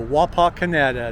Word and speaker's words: Wapakoneta: kansas in 1832 so wapa canada that is the correct pronunciation okay everybody well i